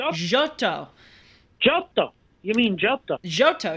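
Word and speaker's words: Giotto: a little segment on gato and I have also been trolled by listeners for not pronouncing him correctly it's apparently jotto jotto you mean jotto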